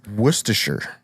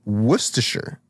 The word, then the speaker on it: Worcestershire: Now, I hear tell that the correct way to pronounce it is Worcestershire. Oh, No way. Isn't that Actually, wild? I've heard this. Ain't that a bitch? Say it again. Worcestershire.